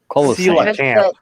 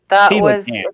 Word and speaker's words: Coelacanth: Coelacanth, or however you pronounce it. Coelacanth. Coelacanth.